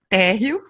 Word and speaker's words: Térreo: É Terrell ou Terrell? Que é a head da GRI Regional Hub Brasil. Meu nome é Térreo, como em português mesmo, Térreo.